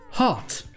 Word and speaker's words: heart: Ce mot c'est heart. C'est le cœur. Heart. Ici, considérez que le E est muet. Ça se prononce avec le son du A dans car.